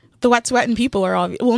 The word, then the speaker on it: Wet'suwet'en: Wet'suwet'en, yeah.